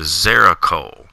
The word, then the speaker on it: Xerocole: but it's called the zeracol now it sounds like it has a z in it but it doesn't i don't know exactly